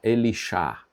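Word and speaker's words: אלישע: e ela me falou: "Se chama Elixá". É o nome do profeta. Mas essa é a pronúncia que é falada lá na língua original deles, né?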